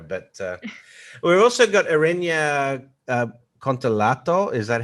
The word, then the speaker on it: Kontolatou: We won't get into that on this show, but we've also got Erenia Kontolatou. Is that how I pronounce it, Erenia? Yeah, it's it's Kontolatou, but it's Greek, so it's very hard to pronounce it.